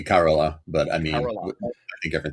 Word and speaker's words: Carola: Uh, we mentioned Corolla or Corolla. I think the Swedish pronunciation might be Carola, but I mean, Carola.